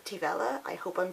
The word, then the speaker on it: Taobh Eile: So two of my friends, Neve and Felina, have a band called Taobh Eile. I hope I'm pronouncing that correctly. I was told it's like Nutella but with Teve in front of it.